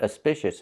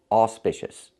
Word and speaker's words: auspicious: It's not auspicious, it's auspicious. The AU makes the aw sound, like in audio or automobile. Auspicious. We don't stress the syllable, but we pronounce it with the aw sound, not the sound. I cannot pronounce it like cup and up.